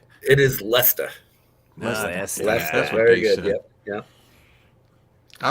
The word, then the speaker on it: Leicester: it's i'm gonna say it's a it's leicester leicester it is leicester that's very good yeah i was gonna say